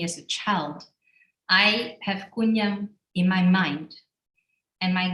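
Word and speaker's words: Kwun Yam: To me, this is Kunyam, and I pronounce it in a Cantonese way, Kunyam.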